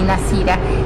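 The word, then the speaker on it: Nazhir: pueden encontrar se llama nacira primera infancia nacira se escribe n a Z h i r claro ahí Z h zhi nasira y ahí en el Facebook está todo lo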